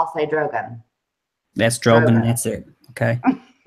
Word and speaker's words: Drogon: Drogon, I pronounce it different ways. Sometimes when I'm talking fast, I say Drogon. But I know it's Drogon.